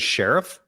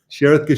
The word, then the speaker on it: Sherith: ever worked with and did you say his name was Sheriff sherith T Oh sherith I thought you like there's a new sheriff in town no sherith Gaba but you know great